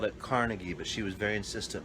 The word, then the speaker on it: Carnegie: She was like a descendant of She was Scottish and she was a descendant of the uh Carnegies. That's right. We at the time called it Carnegie, but she was very insistent.